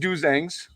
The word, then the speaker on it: Dozangs: It's pronounced Dozangs.